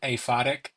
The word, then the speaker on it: aphotic: deep into go so the reader mispronounces this um or at least I pronounce it aphotic um it means without light like a like an aerobic F fo is light or fos for f something like that but no light black super dark uh and then nocturn